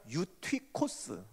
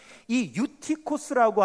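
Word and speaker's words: Εὔτυχος: 유두고 오라 그랬죠 유두고 유두고는 헬라어 발음으로 하면 유투코스라고 그래요 그런데이 유티코스라고 하는 이름은 아무에게나 붙이는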